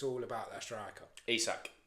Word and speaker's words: Isak: Painfully, when we're saying about Newcastle and I always say his name wrong, is it Isak? Isak, yeah.